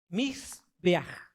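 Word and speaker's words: מזבח: Se dice Mizbeach.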